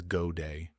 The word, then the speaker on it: Godet: godet the receptionist chuckled pronouncing the name in the cinjun style as goday she placed Pam on